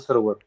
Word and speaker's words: server: Now यहाँ पर हमारा rule आ जाता है, first rule of our voice and accent to reduce our mother tongue influence, that is the silent R. Okay, now what we do as Indians, whenever we see R, the letter R in a word, we usually pronounce it.